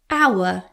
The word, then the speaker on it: hour: It takes an hour. Silent H again.